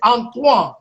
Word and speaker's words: Antoine: Well, you know my my first name is Antoan. So how do you spell that? A N T O No. Antoan. A N T O I N E. Antoine at in French.